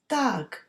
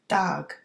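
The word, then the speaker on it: d'fhág: Dag. So the FH is silent. Dag is left.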